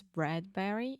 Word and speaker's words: Bradbury: you wrote a lot sure its Bradbury in not bred Bradbury like Burberry it's not like Burberry perhaps if you were